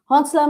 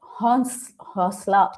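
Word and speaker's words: حوصلہ: Honsla means Hosla. Okay, actually, it's the N is silent.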